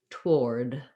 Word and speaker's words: toward: more like toward toward so to build that one what you would try is doing or war like i wore the clothes and then add your tea towar finally toward or towards so that leaves out um that initial letter o and goes just right from um the the um t to the to the war towards um i also found